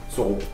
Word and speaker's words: Soro: Comment ça se prononce? Soro.